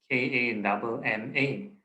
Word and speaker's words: kamma: So it's spelled as K-A-M-M-A, Kamma, right?